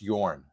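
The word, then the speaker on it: Jörn: um thank you pronounce Yorn the the J is a is a y okay uh I think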